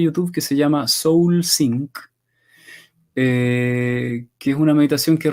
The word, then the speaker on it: Sync: Soul Sync, se escribe sync como sincronizar, sí, S-Y-N-C. sí, ahí Claudia también escribió, parece que es seguidora tuya, Claudia Albornoz, escribió Soul, pero no es de signo, es Sync, con C al final.